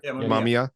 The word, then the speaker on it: Mamiya: But what John said is, because there's also, there's theories out there that the Mamiya guy, I don't know how you say his name, Mamiya, like the camera, that he might be,